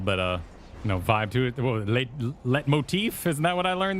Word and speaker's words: leitmotif: Leitmotif, isn't that what I learned the other day? Leitmotif. The leitmotif. Don't pronounce the T.